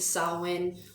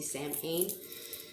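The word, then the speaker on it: Samhain: now that we're in october we're close to sawwin all all hallways eve some of you do not reference sawin as halloween as salwin that is the correct pronunciation when you see sam kane it's actually said sawwin the witch's new year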